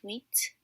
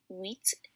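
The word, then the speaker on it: huit: but it's cease seven is sept eight is wheat and nine is nerf so the h as you can see here in eight wheat the age is silent and 10 is not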